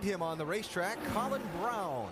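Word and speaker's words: Braun: Alan, I Vince, just a couple of spots behind him on the racetrack, Colin Brown. Yes, I know the way it's spelled. He pronounces it brown.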